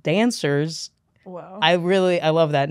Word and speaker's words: Danswers: a great podcast called Danswers. Wow. I love that name. Dan Donohue, yeah, welcome. It's like Answers, but spelled with a D.